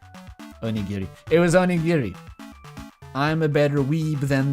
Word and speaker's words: onigiri: Oginiri. Is it oginiri, or did she say it wrong? I thought it was onigiri. Onigiri. It was onigiri.